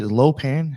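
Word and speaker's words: Lo Pan: Low pan.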